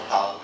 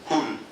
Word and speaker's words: Hull: It's not Hull, it's Hull.